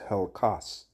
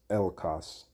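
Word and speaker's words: ἕλκος: I believe the word there in the Hebrew is helkos. if I'm not mistaken. Okay. Oh, actually, it's Elkos. Well, no, Helkos. That's how you pronounce it.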